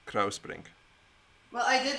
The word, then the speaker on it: Kruisbrink: Yeah, I was going to say, now that I speak Dutch, you have to say au for the U-I, Kruisbrink.